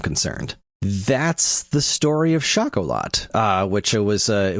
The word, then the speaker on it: Schocholautte: far as I'm concerned that's the story of shakol lot uh which was uh it was uh it's spelled s c h c h l u